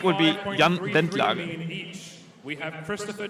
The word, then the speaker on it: Bentlager: Jan Bentlager. Oh, he actually pronounced the name right. Well, close Yeah. enough. I heard him Close pronounce it Jan Bentledge earlier. Jan Bentledge? As a lot of UK people do.